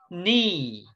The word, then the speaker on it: knee: K is silent in these words. Silent. My Missyang, the letter K has no sound here. Okay. Example. The first picture, knee, that is pronounced or read as knee.